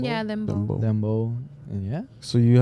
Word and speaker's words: dembow: Dembow? Yeah, Dembow.